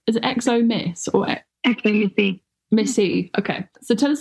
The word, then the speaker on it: xomisse: in my head is it exom Miss or exom Missy Missy okay so tell us a little bit